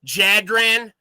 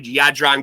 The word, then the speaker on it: Jadran: Yeah, the J is Y sound. Yeah, that's true. So what do you usually get? Jadran?